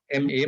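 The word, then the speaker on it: 間: there's this japanese concept called m is it's m a but it's pronounced m a h ma and that typically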